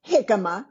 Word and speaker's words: jicama: Pronounced jicama, spelled Jicama, like jicama.